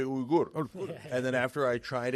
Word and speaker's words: Uygur: You were telling us the correct Turkish one is technically Uygur. Uygur. Yeah. Okay. Makes me But wanna that's just go to too war. hard. I mean, that's a tough one, brother. So my dad, when we first came here, changed it to Uygur, like just the pronunciation, the spelling's the same.